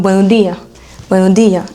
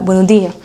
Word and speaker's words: buenos días: Donc vous entendrez peut-être quelque chose comme buenos días, et on n'entend pas le S. Donc ça s'arrête à la buenos días. Mais ils savent très bien qu'il y a un S, c'est juste qu'ils ne le prononcent pas.